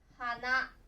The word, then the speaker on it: 花: では読み方は花ですね。